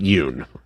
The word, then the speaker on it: Jung: It is Young. I know. Yeah. They pronounce it Yoon. Yeah. There's a J.